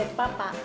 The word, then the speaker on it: papa: 妈妈给我们啊，马铃薯，en español， este papa，爸爸，其实马铃薯